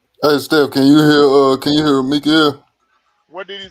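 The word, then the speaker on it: מיכאל: And at that time shall Mikael stand up, that great prince which standeth for the children of thy people. That's how you say his name in Hebrew.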